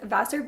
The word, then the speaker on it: Vasseur: from Beauty and I hope I pronounced that right Beauty I'm sorry I'm just going to let her pronounce it for me hi guys my name is and my channel is Vasser Beauty I do DIYs healthy